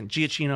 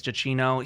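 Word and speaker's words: Giacchino: So, Michael Jacino, I think is how you say GCino. I think it's Jacino.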